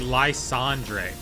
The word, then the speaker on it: Lysandre: Every time I play, every time I play Landre, he say it's actually Lysandre.